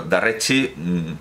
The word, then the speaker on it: Darrechi: judío marroquí, pero claro, Darrechi es la forma que en Brasil, esa lusificación, esa E que se pronuncia al final I, es la forma que